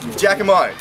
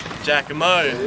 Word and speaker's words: Jakimo: Jakimo. Jakimo.